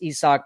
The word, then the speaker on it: Isaac: so ESO pares and a lot of you say well it's Isaac isn't it no actually it's ESO that's that's a correct pronunciation for that name in Spanish um so first of